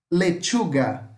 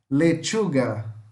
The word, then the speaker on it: lechuga: Ah, lechuga, lechuga, lechuga, alface. Lechuga. Novamente, vai pôr, é como se você pusesse um T aqui na frente e falasse com o som de X. Lechuga, tá? Alface.